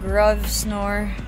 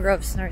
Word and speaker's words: Grosvenor: Maliit lang yung Grosvenor Square. Actually, parang hindi siya square. Bilog siya. Grosvenor Circle siya. O silent S siya.